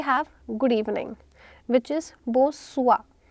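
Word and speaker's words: bonsoir: Then we have good evening which is बो सुआ. स का साउंड बो सुआ.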